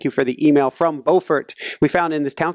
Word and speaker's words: Beaufort: And hi out there, thank you for the email from Beaufort. We found in this town called Beaufort, if I'm pronouncing it right. Beaufort. I think North Carolina is Beaufort, and it's Beaufort in South Carolina.